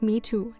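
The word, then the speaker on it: 米兔: state feminists have used emojis for rice and bunny pronounced mitu in mandarin as one of many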